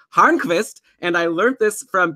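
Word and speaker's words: Hörnqvist: I had mentioned Patrick Horace that's actually not how you pronounce his name it's pronounced harvest and I learnt this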